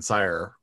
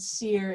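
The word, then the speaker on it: Cyre: But Clank was actually working in Sire as a. I believe that is the correct pronunciation from the mouth of Keith Baker. I've always said seer, and I've had trouble correcting myself.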